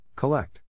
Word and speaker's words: collect: is in this case the accent is in the second syllable corresponding to let are other ways to